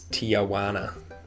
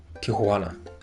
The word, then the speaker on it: Tijuana: I hate when people pronounce it as tana. Okay. Tijuana.